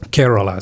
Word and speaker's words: Kerala: Kerala. So it's spelled Kerala.